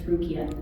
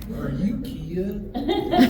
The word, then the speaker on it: Rukia: My family still can't pronounce her name right. Rukia. Rukia. I'm like, it's Rukia. Rukia. Are you Kia?